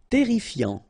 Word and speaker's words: terrifiant: Terrifiant. Final T not pronounced. Double R here, so it will open the pronunciation of your E, and then it will be E. Terrifiant.